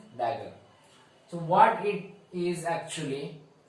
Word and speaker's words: dagger: So this is not T, this is a dagger. The pronunciation is dagger.